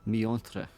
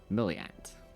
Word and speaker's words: Miontre: It's Ulnar Miontre. Sure. Or Milliant, you might pronounce it as, depending where you're from.